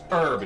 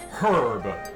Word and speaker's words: herb: Yes, it actually is pronounced herb, not herb.